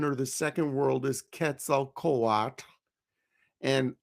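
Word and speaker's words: Quetzalcoatl: the second world is Ketzel Kat. And I'm pronouncing it like the the Aztecs would. People often call him Quetzel Quad.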